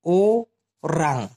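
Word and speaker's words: orang: আর যখন মানুষের কথা ওরা বলে তখন বলে ওরাং, ও রাং। এভাবে ক্লিয়ার করে কিন্তু সহজে কেউ শিখাইতে চায় না, আমি আপনাদেরকে পুরো ক্লিয়ার করে দিচ্ছি। কি হবে? অরাং অথবা ওরাং উচ্চারণ যেটা করেন, ওরাং।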